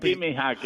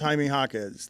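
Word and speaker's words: Jaime Jaquez: version of of hack so I call him jimy hack hackz you is the name you should know in the league poy you should be able to pronounce haime hakz like why did you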